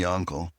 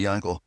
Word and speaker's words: Yankl: So in certain communities, Yonkul in certain communities, my mom always called me Yonkl actually is a galitter, you know, pronunciation, but Yankl.